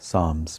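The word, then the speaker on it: Psalms: पी एस ए एल एम एस साम्स P silent है।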